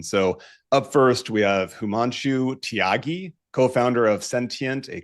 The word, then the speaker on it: Himanshu: actually, yeah, it's simpler than it looks.